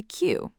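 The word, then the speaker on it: queue: Just the Q. That's it. Q. That's the whole word. Q. All those other letters, U. They do nothing. They serve zero purpose.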